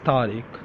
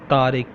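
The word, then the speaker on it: طارق: My name is Tariq. मेरा, MERA, मेरा. NAAM, नाम. तारिक, TARIQ, तारिक.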